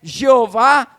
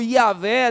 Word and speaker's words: Jeová: nome do altar é jeová Shalom que significa o senhor é paz a palavra Jeová ou yahvé dependendo da pronúncia que você adotar aí significa senhor senhor